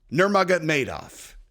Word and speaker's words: Nurmagomedov: I'm like, I know, dude, but you know, it's spelled with a K. So Khabib, but Nurmagomedov.